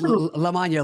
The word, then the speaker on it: Lamagna: It's Lamagna, like lasagna with an M.